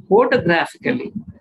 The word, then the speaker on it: photographically: on the second syllabus when we say photographically we stress on the first syllable and also third syllable photographically photographically so that means when we